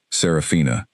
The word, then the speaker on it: Saraphina: In fact, Saraphina, four syllables with the emphasis on the second one, delivered with the